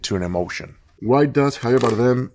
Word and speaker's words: Javier Bardem: Javier Bardem, how to pronounce? Ah, Javier Bardem. Javier Bardem.